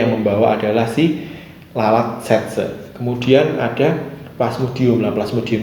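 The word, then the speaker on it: tsetse: Bacanya setse atau sese ya, setse sebenarnya ya.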